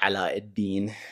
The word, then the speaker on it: Aladdin: three kim four is aladdin or allah deen in arabic that's how he pronounced it correctly five frick and six